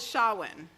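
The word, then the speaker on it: Samhain: that started this and they called it sha-1 it's spelled sa ma che I n now I sent my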